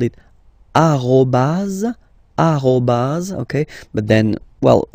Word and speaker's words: arrobase: it should be used, so arrobase, okay. Here, so the dot, okay, because it's not always easy to spot here, we call it point, okay, point, all right, so one more time, tiret, tiret bas, arrobase, point, okay, and then